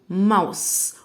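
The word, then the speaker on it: mouse: ماو ماوس. والاي في الاخر ما ننطقهاش.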